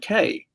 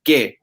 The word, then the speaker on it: qué: And she's like, yeah, it's like K. And I'm like, no, it's not K. It's que, not K.